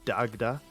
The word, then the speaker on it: Dagda: Um, I'm fairly sure certain like the pronunciation is just Dagda. I I don't think it's that complicated, but I I I would feel like an idiot if I messed that up right now. Yeah, you never you never know with Irish.